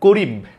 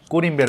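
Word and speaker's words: corymb: এবার চলে যাই আমরা করিম এটার উচ্চারণ আসলে করিম না লাস্টের এই বিটা উচ্চারণ হয় না উচ্চারণ হওয়া উচিত তাহলে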